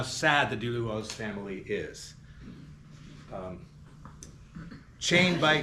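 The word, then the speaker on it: Duluoz: heard Alan Ginsburg say that Carowak said he pronounced it dulu. Well, I mean exactly. You don't say kioak when you talk speak in English, you say carowak. So rather than saying duduos, you say dulu.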